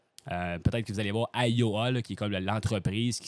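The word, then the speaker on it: Ayoa: im mind map peut-être que vous allez voir AOA qui est comme l'entreprise qui s'écrit a y O A vraiment l'application qui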